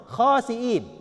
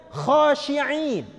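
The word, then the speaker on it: خاسئين: Ini kan kha, sin, hamzah, ya, nun. Khasiin, gitu ya. Ini si imam ini mungkin saking khusyuknya dia membacanya khasyiin. Apa artinya? Kha terus pakai shin, pakai ain, harusnya hamzah.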